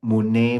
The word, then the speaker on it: muni: So Rinpoche say that we should pronounce that mune mune, Mune, Mune. But inside there, I also hear His Holiness, which is like Om Muni Muni Maha Muna Yeswa.